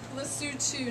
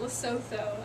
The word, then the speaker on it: Lesotho: It is pronounced Lesotho, not Lesotho. A lot of people pronounce it incorrectly, but that's okay.